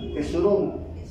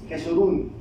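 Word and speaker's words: Jesurún: jerus jes Cómo jes jesurum Bueno sí la pronuncié mal Cómo dice jesurum jesurun Bueno esta palabra mis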